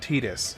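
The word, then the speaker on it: Tidus: goals just to get Titus some some experience. Oh, and by the way, for all those that are here, I know that his name is technically pronounced Tetus.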